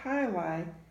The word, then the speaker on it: Jai-Alai: Juanita and Bjorn happily played Jai-Alai before eating fajitas in Juarez. Some silent J's in that one.